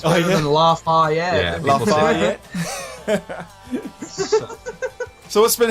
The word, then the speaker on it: Lafayette: Have I pronounced that right? Lafayette? Yes, that's right. There's not really even an agreed upon pronunciation. Everyone kind of says it somewhat differently. It's better than Lafayette.